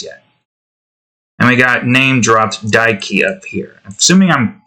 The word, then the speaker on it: Daiki: And we got name-dropped Daiki up here. Assuming I'm saying that correctly, it's D-A-I-K-I.